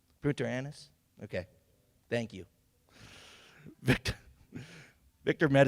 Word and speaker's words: Punta Arenas: While stationed in the coastal town, I'm going to have to pronounce this right, Punta Arenas?